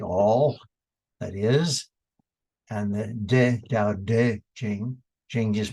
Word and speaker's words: De: And the De, Tao Te Ching, Ching just means the scripture. The De, pronounced D-E, but it's spelled T-E often, means the inner power.